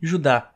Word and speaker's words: Judá: A Carta de Judas, ou, mais precisamente, Judá, conforme a pronúncia do seu nome tanto em grego quanto em hebraico.